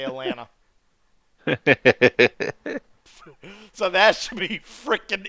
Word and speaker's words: Atlanta: right here ABD ABD Atlanta air Atlanta I would say Atlanta because that's the way how we say it here we don't say Atlanta we say Atlanta so that should be